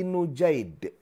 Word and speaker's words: Nujaid: Waan Abi Nujaid bidamin nun eh wa fathil jim. Ini diriwayatkan oleh Abi Nujaid. Ini hurufnya itu nun jim ya dal. Ya. Kemudian diarahkan oleh Imam ee apa namanya? An-Nawawi. Cara bacanya adalah huruf nunnya itu didamahkan dan nanti huruf jimnya itu bentuknya fathah. Fathah.